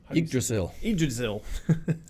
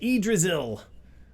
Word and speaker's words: Yggdrasil: Yggdrasil. That's how you say it. Yggdrasil.